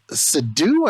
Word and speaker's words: Seydoux: So this movie, which starring Viggo Mortensen, Leah Seydoux, I never knew the correct way to pronounce her last name. It's French. I think it's Seydoux.